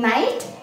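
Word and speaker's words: knight: ये जो K है यहाँ पे साइलेंट है, that is वाई वी are reading नाइट, एंड इसको भी क्या पढ़ रहे हैं?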